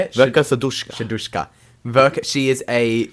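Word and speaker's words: Verka Serduchka: Her name It's called Verka Shadushka. How do you say it? Verka Sadushka.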